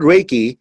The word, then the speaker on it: Reiki: fundamentally what is Reiki the word reiki japanese word it's basically array and key in chinese is pronounced